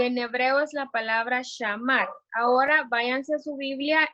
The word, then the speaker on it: shamar: Y la palabra guardar en hebreo es la palabra shamar. Si lo quieren anotar, se escribe S-H-A-M-A-R.